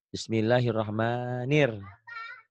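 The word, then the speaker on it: بسم الله الرحمن: panjang a-nya doubel bismillahirrahman di sini tuh ya bismillahirrahmanir nirnya tetap Tuh bismillahirrahmanir jadi ini salahnya yang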